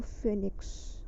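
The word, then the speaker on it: phoenix: देखिए फेनिक्स की स्पेलिंग क्या होती है, फेनिक्स में ओ हमेशा साइलेंट रहता है, ठीक है, ओ हमेशा साइलेंट रहता है, तो लेकिन फिर भी ओ तो आएगा ही आएगा, तो फेनिक्स।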